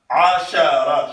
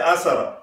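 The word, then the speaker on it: عشرة: can say asara akafa ashara shinun mu'jam sha make sure you pronounce that you don't say asara we have to learn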